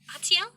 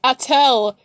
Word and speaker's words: Atel: Atiel? It's been so long. And his name isn't Atiel, it's Atel. It's Atel. It's Atel, but Alara's voice actor pronounced it wrong, so now even I'm calling him Atiel.